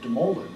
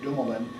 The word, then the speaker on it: Dumoulin: laughed at me my my father grew up in France he pronounced it doing that but then when he learned to speak English as a young man gravitated to the pronunciation of de moly and when he married my mother my mother had a background from french-canadian and so she pronounced it Dolman and more or less